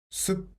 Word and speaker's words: 숲: Yes, it is 수. And let's add p sound. So 수, 프, 숲, 숲. So this word is 숲, and it means forest.